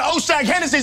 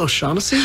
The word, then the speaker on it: O'Shaughnessy: Now take your ass on down to Oshag Hennessy's office right now and tell him exactly what you did! Who? Oshag Hennessy! Principal O'Shaughnessy?